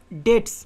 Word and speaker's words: debt: Next দেখো হি is clear dash all ডেটস নাও, সে তার সব ঋণ থেকে মুক্ত, DEBT, এখানে বি এর উচ্চারণ হয় না, ডেটস হয়, হ্যাঁ ডেট হবে।